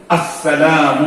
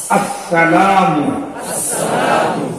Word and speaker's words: আসসালামু: আমি আজকে বলি, আপনারা আমার সাথে বলেন আসসালামু আলাইকুম। মনে থাকবে তো ইনশাআল্লাহ? শুরুর হামজা স্পষ্ট উচ্চারণ করবেন, আস বলেন, আসসালামু, আবার বলেন আসসালামু।